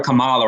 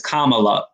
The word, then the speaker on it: Kamala: telling me yesterday that i mispronounced uh i call her kamala right but it's kamala kamala you know but whatever